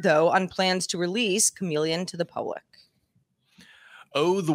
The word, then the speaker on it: CM3leon: announced a new text to image model called chameleon cm3leon but pronounced chameleon capable of producing image captions as well this